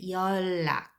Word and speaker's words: 연락: 연락, when you pronounce those l affects right here, so you'd pronounce 열, like instead of a final consonant n, you'd pronounce l instead. 연락.